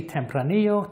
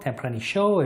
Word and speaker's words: Tempranillo: a combination of mostly Tempranillo Tempranillo if you're in South America where the Double L is pronounced SH and some Graciano about